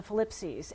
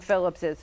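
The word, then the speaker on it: Philipses: Okay, because I see that name all over Putnam County, and I thought it was the Phillipses. It's Phillipses. That's how you pronounce it. I believe so.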